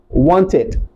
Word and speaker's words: wanted: If the word ends with a t or a d, if it ends with the letter T or the letter D, it is pronounced as aid. So, W-A-N-T, the past tense will be wanted, wanted.